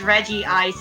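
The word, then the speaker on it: Regice: Just the stuff about Reg Ice's name. Hmm. It's Regi Ice in Japanese, at the very least.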